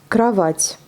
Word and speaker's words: Кровать: Кровать. Pareil, là, le O n'est pas accentué, donc même si ça s'écrit en O, ça se prononce en A.